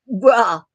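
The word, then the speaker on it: grá: Some other Gaelic terms you might hear are um, Fede means welcome, and it's spelled FAILTE. And Gra, GRA, means love.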